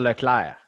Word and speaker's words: Leclerc: And if, in Um, French, it's just the R, the difference. It's Charles Leclerc.